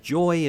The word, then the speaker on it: Yoi: I got told that Yoi was supposed to be pronounced Joy, and they just did it to sort of symmetralize, nice word, symmetrical, and a Y instead, so it fits.